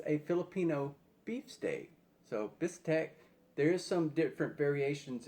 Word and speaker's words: bistek: to take taste test a bistek pinoy so bistack is a a basically it's a filipino beef steak so bistec there is some different variations in the pronunciation